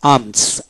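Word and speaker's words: alms: এ এম এস, আর্মস, আর্মস এল এর উচ্চারণ হবে না, আর্মস মানে ভিক্ষা।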